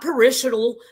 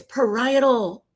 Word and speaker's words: parietal: Not parishal, not perily, not parallel. It's parietal.